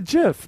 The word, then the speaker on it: GIF: yeah are you in high school it's a Jif that's how you pronounce gif are you shooting for your porn